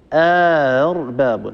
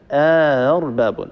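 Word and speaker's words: أأرباب: المجانس للفتحة هو الألف، يعني نسهل الهمزة الثانية بين الهمزة وبين الألف، يعني ندخل ألف بين الهمزتين ونسهل الهمزة الثانية بين بين، فيصير النطق أرباب، هكذا أرباب، هذا شيء.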